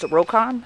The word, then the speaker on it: Rokon: with a 2001 what I've been told is pronounced rocon so a 2001 rocon I'd also like to invite you to visit